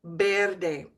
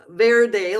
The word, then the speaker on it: verde: Now the V in Spanish is pronounced always like a B, B. So instead of watch my lips, verde, like in English, you would say verde, verde.